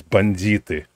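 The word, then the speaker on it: бандиты: The proper way to say it is banditi.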